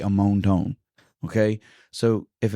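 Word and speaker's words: Amonton: It's spelled A M O N T O N. But it gives you in the parenthesis how how to pronounce it. And it's quite quite literally ammon.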